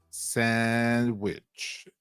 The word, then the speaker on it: sandwich: The word sandwich is pronounced sandwich in American English.